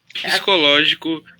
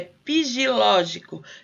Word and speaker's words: psicológico: Psicológico Só um pouquinho. É pigilógico. Na verdade, ela quer dizer psicológico, mas ela fala dessa maneira, tá?